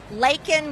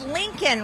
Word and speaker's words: Laken: in his hand he could have easily read it Laken Riley and he said Lincoln Riley but the key thing